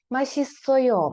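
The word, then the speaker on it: 맛있어요: І тут також машта ми тут читаємо ось цю подвійну с як Т але тут ми її вже читаємо як S тому що далі йде голосна машісойо наступне Джуда давати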